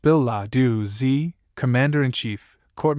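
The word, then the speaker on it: billet-doux: Biladu footnote plural billet du pronounced bill lau z comm commander and chief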